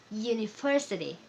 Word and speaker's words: university: ini misal kata ini University diawali dengan huruf vokal u tapi dalam bahasa Inggris we pronounce ye ye University maka kita tidak bisa